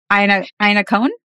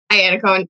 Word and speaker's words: Iannacone: Today I have, and I'm so tempted to pronounce your name the Italian way, but I think you just say it Iannacone. Iannacone, yeah. Iannacone.